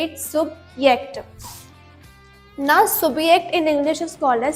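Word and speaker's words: Subjekt: ऐ सुबक्ट because in German language J is pronounced eight य सो वी से इट सुबक्ट नाउ सुबियक्ट in English is called as सब्जेक्ट सो यस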